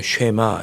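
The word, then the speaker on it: שְׁמַע: 이렇게 시작을 합니다 그래서 들으라 이게 히브리어로 쉐마 이렇게 발음하거나 이스라엘 이렇게 나갑니다 히브리어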